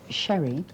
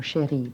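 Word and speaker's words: Cherie: My father was Italian, so it's Sherry, or Chérie, but I don't insist on a French pronunciation.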